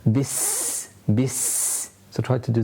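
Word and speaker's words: بِسْمِ: You have the seen, and the seen is again a letter where we have sound and air continued whilst pronouncing it in order to make it more audible as well. Bis, bis.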